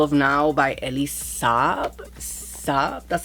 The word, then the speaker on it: Saab: Saab, that's how you say it. I don't know if that's how you pronounce it.